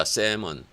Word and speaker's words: salmon: salmon. 이걸 읽을 때는 L이 묵음이 되죠.